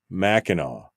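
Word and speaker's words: Mackinac: do you get maau I suppose the C is silent is it like the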